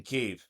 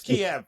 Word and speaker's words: Kiev: Ukraine on a train in Kev or Kiev. Sorry, it's Kiev because I don't agree with this Kev It was it's it's chicken Kiev. So Yeah. You notice how they all started calling it Kev all at once. It's like no, it was always Kiev.